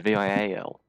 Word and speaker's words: vial: with me vial yep that would be like vile hence why i assumed